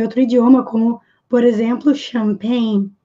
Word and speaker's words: champagne: Porque a origem da palavra vem de outro idioma, como, por exemplo, champagne. Champagne, que é champanhe, se escreve com CH e não se fala tchá.